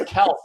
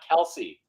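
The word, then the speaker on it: Kelce: Mike, by the way, Mike, did I mention that Kelsey's not the correct pronunciation? Yeah, his name is actually pronounced Kels. You guys know that? Not Kelsey.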